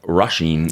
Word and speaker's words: Roisín: Your wife, Roisin, yes. the northern pronunciation.